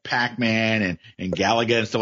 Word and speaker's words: Galaga: My wife's all-time favorite video game is, and I'm never sure if I pronounce this right, is it Galaga or Galaga? Galaga.